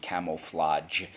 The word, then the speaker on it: camouflage: That j at the end is actually a G, camouflage, but we pronounce it camouflage to be respectful towards its French origins.